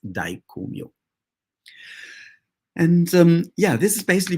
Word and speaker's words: Daikomyo: but the mantra to go with that is pronounced Daikomyo.